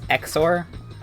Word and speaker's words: XOR: that's just the house xor i always just pronounce the x's as a z because that's what x does at the beginning of words you could also say